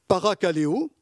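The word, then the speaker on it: παρακαλέω: a une similitude entre le verbe exhorter qui se prononce en grec barakaleo et qui veut dire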